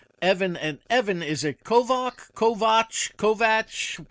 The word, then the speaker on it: Kovach: And Evan, is it Kovac? Kovatch. Kovatch. How do you pronounce your last name? You pretend there's a CK there, so it's pronounced Kovac.